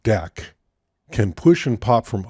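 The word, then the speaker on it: deque: which they were inserted the double-ended Q object pronounced deck can push and pop from either side allowing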